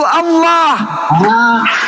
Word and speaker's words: Allah: Itulah tulisan A L itu kaidah bacanya itu Allah.